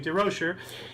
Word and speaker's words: Durocher: uh or Leo diera share how do you pronounce Leo durocher thank you to Rocher and it is 45-year career in the sport